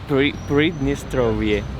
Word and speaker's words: Pridnistrovie: How do you say Pridnistrovia? Pridnistrovie. Pridnistrovie. Yeah. Okay, Pridnistrovie.